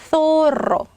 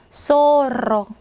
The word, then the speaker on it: zorro: 예전에 마스크 오브 조로 있었는데 자, 소로. 자, 중남미 사람들 얘 발음하면 소로. zorro. 자, 이렇게 됩니다. 자, 근데 영어에서는 z 발음을 하겠죠. 자, 근데 스페인은 어때요? z나 g 발음이 아예 없다라고 이미 말씀드렸죠.